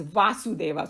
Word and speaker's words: Vasudeva: And so this particular personality is Krishna or Vasudeva. And Vasudeva, we all know that Vasudeva was his father. So we pronounce it as Vasudev, that's his father. And he is Vasudeva, so that's the difference.